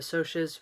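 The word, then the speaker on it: Socs: greasers and the sotius the sotius which you'll see in there is spelled like sock are like socialites so rich kids versus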